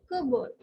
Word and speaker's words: cupboard: is it curved so p is silent in this and even uh r is not very clearly pronounced in this so it is kerber so p and r